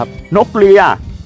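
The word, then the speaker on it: นกเลีย: คือ นก เลีย ครับ นก เลีย ออก เสียง ถูก นะ ครับ เลีย คือ รอ ลิง หรือ รอ เรือ ครับ รอ ลิง ครับ ลอลิง สระเอีย นี่ นะ ครับ ผม นก เลีย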